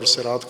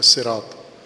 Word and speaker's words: صراط: طے شدہ ہے کہ یہ لفظ اگرچہ قرآن کریم میں صاد کے ساتھ ہے لیکن یہ اصل میں سین کے ساتھ، اصل اس کا جو تلفظ ہے، ہجا ہے، وہ سین کے ساتھ ہے، صراط۔ لیکن عربوں میں لہجے